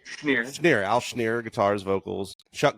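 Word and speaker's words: Schnier: Schneer.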